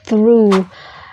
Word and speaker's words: through: Nah nanti beda lagi ketika misalnya kita menemukan kata through ujungnya GH, tapi itu nggak dibaca GH-nya.